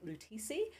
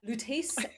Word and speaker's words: Loutis: paris course loutis express i actually googled how to pronounce loutis because i think i was telling lutisi but lootis express uh great course i've